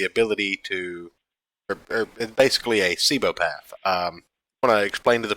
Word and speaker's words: Cibopath: who has the ability to, or basically a Cibopath. Want to explain to the people what a Cibopath is, if you can actually get it out without turning into a blender again? So essentially, Cibopath, as I've been informed is how you say